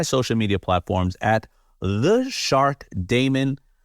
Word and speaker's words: Daymond: And of course, you can all connect with me on any of my social media platforms at theshark Damon, spelled like Raymond, but what a D.